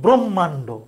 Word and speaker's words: ব্রহ্মাণ্ড: এই যে শব্দটা আছে, এই শব্দটার উচ্চারণ আমরা বলবো ব্রহ্মাণ্ড।